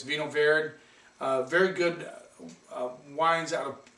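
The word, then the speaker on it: Vinho Verde: Have you tried a Vino Verde? A lot of people say Vino Verde. I don't care how you say it. It's Vino Verde.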